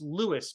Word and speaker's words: Luis: know that's Dusty Dusty it's not pronounced apparently it's pronounced Lewis by the way even though it does look like Luis Angela is here too